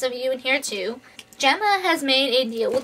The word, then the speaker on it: Gemma: daniel gemma which i found out i was pronouncing gemma's name wrong it's really gemma i guess not gamma so if i slip up and call her